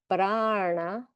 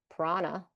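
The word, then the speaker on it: prāṇa: Pra, I'm also doing the R inside my mouth. I'm not going prana. I'm going pra, na. Yeah, then you can hear it if I'm doing a na fourth mouth position versus doing a ra third mouth position, usually.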